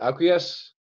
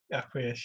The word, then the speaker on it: Acquiesce: How do you pronounce it? Acquiesce? Acquiesce, yeah.